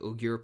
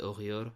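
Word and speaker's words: Uyghur: you were mentioning was the ugear population or the UR as it depends on how you want to pronounce it yeah um the uh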